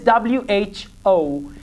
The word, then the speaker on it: who: pronounce it like who W is going to be a silent letter in this combination please repeat after me